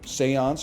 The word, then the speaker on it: Seance: please more eights okay Seance but it's pronounced like Beyonce you speak on that for